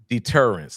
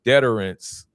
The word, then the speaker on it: deterrence: Deterrence. I'm sorry, I pronounced that wrong. I put the emphasis on the wrong syllable.